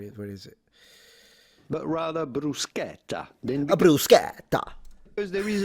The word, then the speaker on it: bruschetta: Standard Italian, bruschetta. So, closed A, bru- sche- tta. Bruschetta. Bruschetta. People in the south, bruschetta, with an open A.